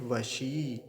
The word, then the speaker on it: वशी: तो और आगे देखिए वशी वशी में तालव्य सकार पर दीर्घ इ का है बड़ी ई की मात्रा है तो थोड़ा सा लंबा खींच वशी ऐसा और अकार का भी ध्यान रखेंगे वसी मत कर वसी नहीं कहेंगे ऐसे वसी